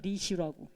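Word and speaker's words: ऋषि: 자, 가정 생활을 하는 르시 전통. 이게 르는 원래 발음이고이 표기는 요렇게 합니다. 리시라고.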